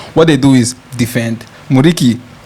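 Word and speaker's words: Muriqi: Muriki, pronounce that name for me. Murichi. Murichi. Murichi will just look for a way and score one tall guy with hair.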